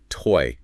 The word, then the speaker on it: TZ: real culinary adventure and it's called TZ pronounced toy and get ready to